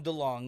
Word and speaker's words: DeLonge: Don't make fun of the way I say his name. I pronounce his name correctly. Tom DeLonge or whatever from Blink-182.